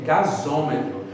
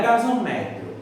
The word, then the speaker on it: gasômetro: E veja como ela é importante, que além dela facilitar a pronúncia, ainda recebeu o acento, recebeu ainda a sílaba tônica. É gasômetro, não é gasometro, é gasômetro.